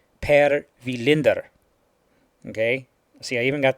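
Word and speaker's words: Per Welinder: it is actually pronounced per vinder okay see I even got the accent in there that's the actual Swedish name way of pronouncing it okay it is per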